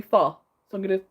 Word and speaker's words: pho: I'm trying to pronounce it correctly, because I was always one of those people that said pho, but it's apparently pho.